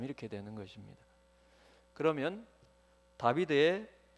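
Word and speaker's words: דוד: 그래서 다비드라고 하는 글자도 세 자음으로만 되어 있습니다. 달렙, 바브, 달렙. 그래서 디귿, 비읍, 디귿. 그래서 다비드 이렇게 발음이 되는데, 우리나라 말로 하면 디귿, 비읍, 디귿 요 세 자음으로 다윗의 이름이 그래요, 여러분.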